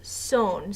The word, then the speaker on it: son: ser is son s-o-n so it's spelled like sun like I am the son of my father but it's pronounced sewn so please make sure